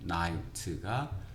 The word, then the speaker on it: knight: 그리고 이 발음이 K가 묵음이 돼서 night입니다. nigh나 knigh나 똑같죠. 기사입니다. night, 기사. 그리고 roam은 배회하다. 그러면 상기시키면서 times of them, 그들의 시기, when, 어떤 때, night가 기사들이 땅을 배회할 때,